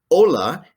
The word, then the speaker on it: hola: buenos tardes buenas noches hola h is always silent in spanish except in a ch combination then we get to